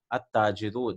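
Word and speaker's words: التاجر: At-tajiru, the trader. At-thawbu. See, we are not pronouncing the lam.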